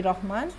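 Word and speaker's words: رحمان: সালাম সালাম ইন দুস্তেমান রহমান আস্ত ও আখলে মিসর আস্ত আচ্ছা রহমান আমরা বলি অগাই সিরাজ আমরা বলি রহমান কিন্তু ইরানিরা বলে রাহমান রাহমান ঠিক আছে রহমান আস্ত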